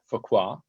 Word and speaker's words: Fuqua: of help here today how to pronounce the business school at duke focus um kind of like fogra and then um alchemist